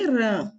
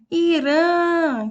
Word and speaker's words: Irã: Na página 33 diz: observe a lista de nomes de países abaixo: Afeganistão, Alemanha, Catar, França, Cazaquistão, Dinamarca, Espanha, Nepal e Irã.